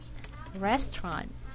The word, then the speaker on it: restaurant: here three syllables but when you say this word it's going to be like this restaurant one silent syllable is taken out so we know this